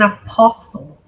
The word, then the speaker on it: apostle: Called to be an apostle. Apostle, você não pronuncia essa letra T.